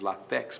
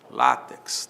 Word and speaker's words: látex: com X no final, látex, muita gente diz latex, mas não é latex, é látex, não é?